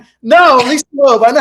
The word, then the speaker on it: Lisa Loeb: And Lisa Loeb. No, Lisa Loeb.